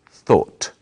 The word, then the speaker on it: thought: The past tense of think is thought. It's spelled in a strange way, but it's easy to say. Thought.